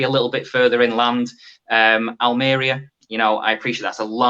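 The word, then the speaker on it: Almería: And you've got to pronounce it right. It's Almeria, as I say.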